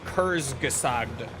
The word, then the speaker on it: Kurzgesagt: You just pronounce it Kurzgesagt.